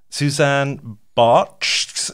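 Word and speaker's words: Susanne Bartsch: Anyway, shall we go from there to Suzanne Bartsch? Is that how you pronounce it?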